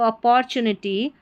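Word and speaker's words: opportunity: अपॉर्चुनिटी नहीं बोलना है टी यू को उच्चारण जो है टी का यहां पर च करके हो रहा है ठीक है तो अपॉर्चुनिटी but this is नॉट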